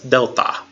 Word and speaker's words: Delta: half the gamma is Delta and it sounds like the D in dog and it's very consistent